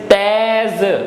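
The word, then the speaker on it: thèse: E with this accent on the top becomes a, so total it becomes te. And then we have s, which gives the sound, and e will be silent, so it is tez.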